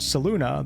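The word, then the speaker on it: Selûne: me on my pronunciation the pronunciation that I use for these videos is from the game itself I never knew Saloon as followers were quite so wretched I think it's best to use the pronunciation used in the game so people can put the two and two together there's also a known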